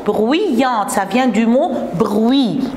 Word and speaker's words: bruyante: J'écris Y-ante, mais je prononce bruyante.